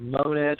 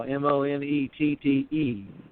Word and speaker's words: Monette: It's the little town of Monette, Arkansas. Monettee, and not pronounced Monet, but pronounced Monette. Which I guess if you were French, you might pronounce it Monet.